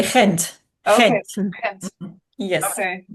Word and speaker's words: Ghent: Well, in Belgium, you would say Ghent. Okay. Ghent. Ghent. Yes. Okay. Oh, different than how I think it's pronounced.